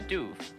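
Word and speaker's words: Dubh: thought it might be duv like like the way you pronounce siobhan okay okay so but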